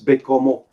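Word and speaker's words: Baie-Comeau: Hey, Roger, what would BAIE COMEAU Bay Camus? Is that French? Bay Camus? Wait a minute. Spell it out again, Paul. BAIE space Yeah. COMEAU. Is that French? Yeah, it's Bécomo.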